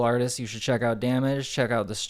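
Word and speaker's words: Damag3: Uh Damage is a trans rapper and she's really cool.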